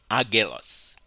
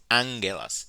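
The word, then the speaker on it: ἄγγελος: gammas come together and when they come together they are pronounced with an N sound for example here is the word angel it is pronounced Angello's it's not oculus it's not aguilas is angulas because the two gammas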